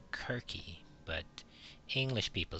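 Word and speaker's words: Circe: is the Cersei side her name is actually pronounced querque but English people say Cersei for some reason but her name is querque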